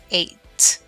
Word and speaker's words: ate: So the correct past tense is ate, ate. Just like the number, we say it like the number 8. Same pronunciation.